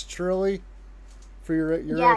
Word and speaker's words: Trilly: Do you say Is that am I pronouncing that right? It's Truly? For your your FPV Yeah, it's Truly. Truly.